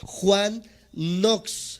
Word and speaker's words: Knox: de estos grandes hombres se llama Juan nox se escribe K n o x kn n o x Juan nox y él